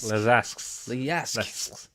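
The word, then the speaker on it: Leżajsk: of this beer is Lejisk. Lezasks. So it's Yisk. Lez or Z if you want to. Lezajsk. Right. Les and then AJ Lezask.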